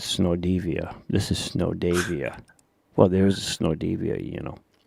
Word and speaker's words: Davia: This is Snow Davia. Well, there's a Snow Devia, Okay. Yeah, but it's spelled D-I-V. Yeah, D-I-V, Diva. No, Diva. Yeah, D-I-V-A. This is D-A-V-I-A, so it's a Davia.